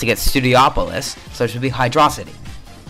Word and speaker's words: Studiopolis: jesus press garden studiopolis it's studiopolis by the way and if you're saying hydros hydro city then you're wrong because you're pronounced against studiopolis so it should be